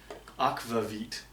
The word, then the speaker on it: akvavit: is my replacement straga i can never say it correctly it's akvavit this stuff happens to